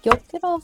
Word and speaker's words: gyokuro: Wait, is gyokuro for like the tea?